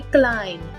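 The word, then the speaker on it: climb: इस वर्ड में भी साइलेंट है, हम इसे पढ़ेंगे क्लाइम।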